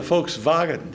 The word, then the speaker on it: Volkswagen: pronounce as aw so if you look at a sign down the street and says they're a Volkswagen dealer if you go to Germany it would say he's a folks vaugant dealer if you see a